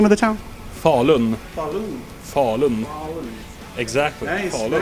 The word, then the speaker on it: Falun: Yeah, it's in Sweden, in Falun, the hometown of Sabaton. How do you pronounce the name of the town? Falun.